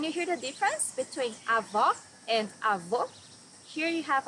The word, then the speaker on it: Avó: Avó, grandmother. Here you need to hear the sound of the last O in the syllable. It should be an open O, as we say in Portuguese. Avó.